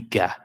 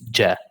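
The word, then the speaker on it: ج: So Jim will never be Ga. It's always Ja. Ja. So as other letters, I'm not going to all of them, but this is just because it's really common between other languages. But in Arabic Fusha, we don't say Ga, we say Ja.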